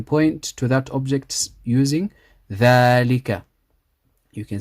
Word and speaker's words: ذلك: ذلك, we read the dhal 2 counts. So we're actually reading it like this.